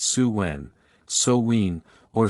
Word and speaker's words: Samhain: thousands of years to the festival of samhain pronounced su when sowween or saw one the celtic new year's festival the name means